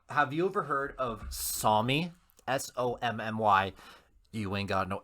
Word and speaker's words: Sommy: SOMMY. Sommy. No. So like Sunny, but with M's.